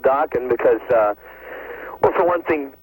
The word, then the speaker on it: Dokken: Plus, Dokken rhymes with rockin', What more can you ask for?